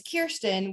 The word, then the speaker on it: Kirsten: and my name is kirsten which is uniquely spelled and pronounced pronounced and they would say it's like deer stand but with a k and i'm like wow